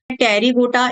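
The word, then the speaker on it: Pterygota: एक होता है टेरीगोटा, एक होता है अ टेरीगोटा। यहां पर पी साइलेंट होता है।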